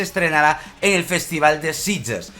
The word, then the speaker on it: Sitges: Pues aquí me pongo yo tonto y se pronuncia Sitges.